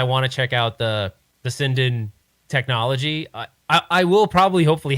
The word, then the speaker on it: Sinden: But it should be Sinden, but whatever.